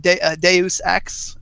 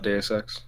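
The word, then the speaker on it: Deus Ex: I actually just picked up um some people pronounce it Deus X if you've heard of that de X yes I just picked that that's really good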